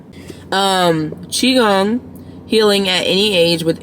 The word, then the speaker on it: Qigong: gong you know what Google will help us pronounce it gum Qigong um Qigong healing at any age with energy breath movement